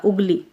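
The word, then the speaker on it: उँगली: चंद्रबिंदु लगे हुए उंगली अगर चंद्रबिंदु नहीं लगी होती तो उंगली होता उंगली तो इसका उच्चारण होगा उंगली मुंह और बड़े ऊ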